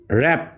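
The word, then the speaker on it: wrap: কিন্তু এখানে ডাব্লিউ টা পড়তেছি না ডব্লিউ টা সাইলেন্ট হয়ে গেছে রিস্ট এরপরে র‍্যাপ এরপরে র‍্যাপ র‍্যাপ দেখো এখানে ডাব্লিউ এর পরে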